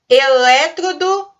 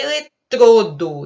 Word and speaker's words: eletrodo: Elétrodo ou eletrodo? A gente pronuncia o O fechado e a palavra certa é eletrodo e não elétrodo. Eletrodo, por isso ela é uma paroxítona.